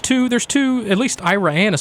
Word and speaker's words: Iraan: I think it's iraan I think it's Iran iraan not Iran iraan that's why there's two A's in it I think it's